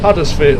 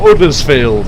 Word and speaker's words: Huddersfield: So anyway, we've got 5.1 miles to Huddersfield, or Uddersfield as the locals would pronounce it.